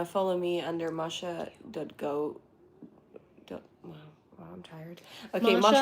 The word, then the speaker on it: Masha: Also, just in case uh for anyone in the future, Masha is spelled without an R.